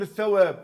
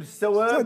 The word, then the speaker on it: الثواب: هالشهر انا عشرتهم كلهم اذا بتقول الثواب اذا بدك تقول الثواب بدك تحط لاث ثلاث نقط ايهه هي ولا فيك تلفظها سين بحطوا سين يعني بتقول السواب يحطوا سين السين بتغير المعنى بتغير المعنى بس هن بيستعملوا بدل